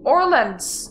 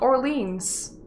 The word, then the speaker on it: Orleans: you're just stupid malkivian it's pronounced orleans not orleans dammit ah kid's smart